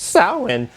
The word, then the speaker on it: Samhain: typing in the coming they've actually pronounced Souren yes I know that but I've been calling this band Samhain for 25